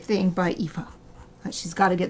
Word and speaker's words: Aoife: It's an Irish name, so it's very hard to spell. Aw, thank you. Aoife Exie says get well soon.